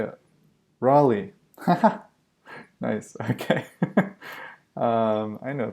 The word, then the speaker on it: Raleigh: you say that rel a little a bit relay relay really I just say this why can't I just want to know how to say it Raleigh haha nice okay I know things Raleigh there we go sorry about that so yeah